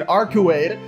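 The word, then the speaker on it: Arcueid: Arukai giggles. This is so fucking abrupt. This can't be actually Arukai, bro. This gotta be like her fucking evil twin, Arkuade.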